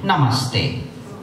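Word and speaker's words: नमस्ते: Namaste. Namaste. And you can see the sound stay. The sa is not fully pronounced.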